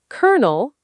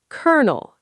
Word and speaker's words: colonel: Colonel, kernel, not colonel.